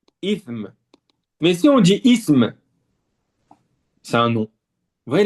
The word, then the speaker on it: ism: On dit ism comme ça. Subhanallah. Ism. Ism.